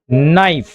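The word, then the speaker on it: knife: तो जहां पर जो स्टार्टिंग का लेटर है के वो साइलेंट होता है उसे नहीं पढ़ा जाता। अन्यथा इसे क्या नाइफ पढ़ा जाता लेकिन इसे पढ़ा जाता है नाइफ। तो के साइलेंट होगा।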